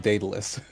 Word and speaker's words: Daedalus: Yeah, I think it's pronounced Daedalus.